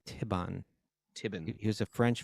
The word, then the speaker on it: Thibon: pronounced Thibon.